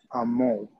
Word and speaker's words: amour: Amour. Amour. Now, letter R, I want to know letter R is only silent when it comes after letter E. Oh. As okay? Yeah. So we say Amour.